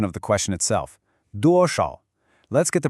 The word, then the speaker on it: 多少: A really common pronunciation mistake here for English speakers is that sh sound in shǎo. It's not a hard shu, like in shoe, it's a bit softer. Let's try it again. 多少.